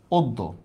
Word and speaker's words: অদ্য: শব্দটা আমি লিখলাম অদ্য। অদ্য শব্দের উচ্চারণটা লেখেন, একবারে সহজ, এতক্ষণ যা পড়াইলাম।